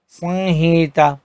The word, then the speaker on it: संहिता: और अगर ह से पहले अनुस्वर आता है तो उसका उच्चारण अंग की तरह होता है, जैसे संहार, संहिता।